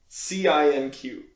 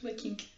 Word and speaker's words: Le Cinq: Spelled like 5 in French. Cinq. Cinq. Thank you. There you go. Yeah, Lecinq.